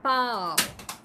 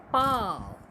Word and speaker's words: पाँव: पाव, और पा के ऊपर जैसे ही चंद्र बिंदु लगा तो बन गया पाँव। समझ में आया बच्चों अंतर? जैसे ही हम चंद्र बिंदु लगाते हैं उच्चारण बदल जाता है और उसका अर्थ भी बदल जाता है।